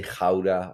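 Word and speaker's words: Gouda: case you were wondering in holland we say ghaura with the ch from loch the scottish law um but never mind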